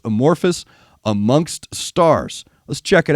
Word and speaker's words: Amorphis: server hey man check out anavan kbur and amorphus right is that am I getting that right